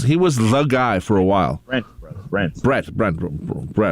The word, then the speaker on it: Brent: Well, there's a nice thing about Brett. He was the guy for a while. Brent. Brett. Rhymes with rent.